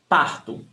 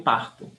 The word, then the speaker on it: parto: Eu parto. Eu parto. Pronunciation tip. Remember, when the verb ends in O, when the word ends in O, it's pronounced as U.